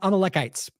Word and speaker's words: Amalekites: Amalekites.